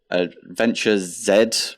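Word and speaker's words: AdventureZ: We've got Adventure Z, which is, I think it's supposed to be pronounced Adventures with a Z, but I'm British, so I say Z.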